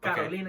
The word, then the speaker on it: Carolina: Carolina, yeah.